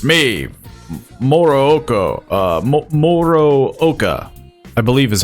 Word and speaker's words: Morooka: Morooka, I believe is how he pronounced his own name.